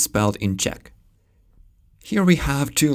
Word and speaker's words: Czech: Letter C stands for c, but the ch sound is spelled as cz. And the Polish word for Czech is Czech. Remember that ch is for the h sound.